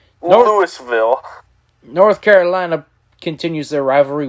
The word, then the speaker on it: Louisville: florida state and louisville god you say it wrong it's louisville lewisville north carolina continues their